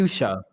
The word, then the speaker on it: fuchsia: yeah and then just be like this is fushia or fie or whatever the it is fuchsia fuchia sake fuchsia okay that was close enough no how do you know it's pronounced that way cuz that's a color and